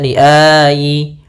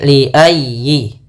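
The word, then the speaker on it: لِأَيِّ: Jangan dibaca liyayi atau liayi. Ah jangan tapi liyi. Liayyi yaumin.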